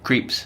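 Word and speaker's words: Krieps: really played by Vicky how do you pronounce her name creeps creeps she's amazing and she's working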